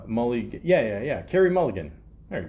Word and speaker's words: Mulligan: Mulligan.